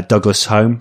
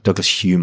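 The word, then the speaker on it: Douglas-Home: good and then uh douglas home douglas hume i think it's pronounced because he's like so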